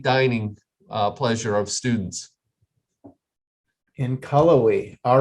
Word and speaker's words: Cullowhee: And how do we pronounce the town that Western Carolina is located in? Cullowhee, North Carolina. Cullowhee.